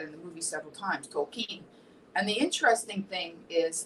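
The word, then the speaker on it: Tolkien: movies that I've watched is poking which is pronounced tokine he says that in the movie several times tokine and the interesting thing is that I didn't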